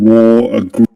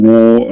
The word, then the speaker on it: wore: He doesn't say wore, as in American English or other accents. He says wore, the person wore a green parka. Yeah, and this E letter is silent there.